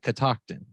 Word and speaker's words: Catoctin: to be here and did I say it right Catoctin right you absolutely did you absolutely did and